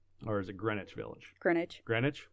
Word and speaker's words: Greenwich: Greenwich? It's spelled Greenwich. Yeah, but like sandwich, but it's Greenwich. Yeah, it's not Sandwich.